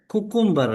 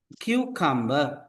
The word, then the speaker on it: cucumber: என்னன்னு சொன்னால் கன பேருக்கு இந்த வேர்டை வந்து ப்ரொனவுன்ஸ் பண்ண தெரியாது. பெரும்பாலானாக்கள் 190% சொல்வது இதை குக்கும்பர் என்று சொல்லும். குக்கும்பர் என்ற ஒரு வேர்ட் டிக்ஷனரியிலே இல்லை. It is pronounced as cucumber.